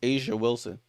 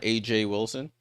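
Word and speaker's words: A'ja Wilson: Because I'm pretty sure that's how it's pronounced pronounced Asia Wilson. Not I don't think it's not AJ Wilson.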